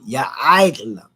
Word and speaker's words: يعلم: This is a tough one here to pronounce because you got to put that rai in there. La yaka. Oh, goodness gracious, I did it again. That's actually ya'ailam, parts of ya'ailam.